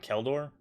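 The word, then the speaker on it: Kjeldor: I never say this right, but Keldor, because I think the J is silent.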